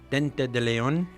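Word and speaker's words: diente de león: French and in Spanish it means it's actually pronounced Dente de Leon and it means tooth of the lion are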